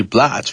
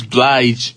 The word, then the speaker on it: Blige: It's Mary J. Blige, right? Yeah, that's how you say it, right? Mary J Blige. I get confused. Blige. Well, how would you how this bliggee sounds a little off to me.